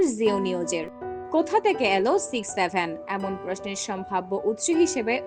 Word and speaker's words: 6-7: এর উচ্চারণ হবে 6-7, তবে কখনো 67 নয়।